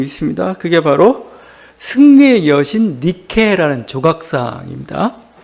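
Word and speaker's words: Νίκη: 나이키가 헬라어 니케를 그냥 이렇게 영어식 발음 다시 음역한 그런 게 나이키입니다.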